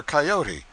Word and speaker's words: coyote: If I remember rightly, this latter was the regular coyote, pronounced Coyote, of the farther deserts.